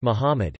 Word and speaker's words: Muhammad: Muhammad, Arabic, Mumd pronounced Muhammad, c.